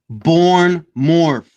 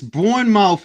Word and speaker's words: Bournemouth: It's pronounced born morph. It's born mouth in my country, bro.